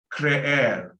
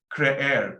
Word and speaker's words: creer: Creer. Creer. Pronounce both E's. Creer.